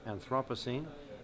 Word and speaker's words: Anthropocene: some people pronounce it anthropos I pronounce it anthropos the era or epic